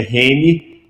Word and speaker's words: Heni: Meu nome não é fácil, as pessoas não acertam, é Reni, se escreve com H, H-E-N-I, né? Se fala Reni, Reni, está escrito aqui na tela, vocês podem copiar.